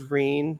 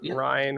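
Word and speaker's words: Ryne: Is that the official pronunciation for it? Is Reen, not Ryan or whatever? Reen. Reen. Yes, okay.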